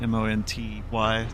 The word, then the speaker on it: Monty: Monty. M O N T Y. Like as if you said manatee way too quickly.